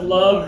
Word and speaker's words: love: it okay next one a lot of people say love that's not love okay this one is with the fist because love hurts right love love Mel